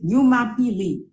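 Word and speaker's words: Jumapili: now we're gonna start with Sunday Sunday is Yuma pili and for those of you who don't know how to spell it it's j-u-m-a-p-i-l-i so a new mapini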